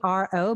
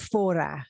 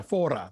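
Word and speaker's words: Fårö: It looks like Faro, but they pronounce it Fora. Yeah, Fora, thank you, because it's got the little thing on the A and it's Sweden.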